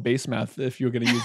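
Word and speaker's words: Basemath: hittite wives judith and base math if i'm going to use the american accent i'm sure that's pronounced differently in hebrew but i like base math let's call her that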